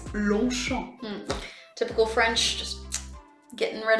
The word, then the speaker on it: Longchamp: So in French we would say Longchamp. You can't hear the G and you can't hear the P at the end, so it's Longchamp.